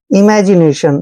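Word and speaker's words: imagination: आई ओ एन को शन पढ़ते हैं नेशन इमेजिनेशन दोस्तों इमेजिनेशन का मतलब होता है कल्पना सोचना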